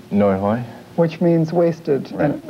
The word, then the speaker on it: Nguoi Hay: for the play and pronounce it for me again no hoy which means wasted and